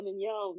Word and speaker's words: Mignon: reason why it's part of the reason like I go by Mignon now. Like the correct that's like, that's the correct pronunciation of my name, not the Americanized version. Right. Um, and it's like, because like that's how my name is said.